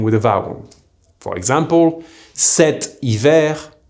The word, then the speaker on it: cet hiver: For example, cet hiver will be pronounced stiver, and cet été will be pronounced stété.